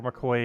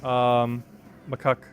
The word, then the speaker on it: macaque: Because there's not a single chance referring to it as a macaque. Or McCoy, or Mackay, or Quay, or whatever Google just said. Macaque. There's just too many ways to mispronounce that word.